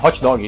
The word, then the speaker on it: hot dog: como eu disse né a sílaba tônica no inglês é muitas vezes antes né no finalzinho a gente fala hot dog e se for pronunciar certinho inglês fica hot-dog hot-dog uol esporte nas duas